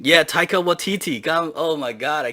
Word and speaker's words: Taika Waititi: Like if they take a deduction on it, they have to make this movie, and it's on their list, and Waika Tati, I can't say his name.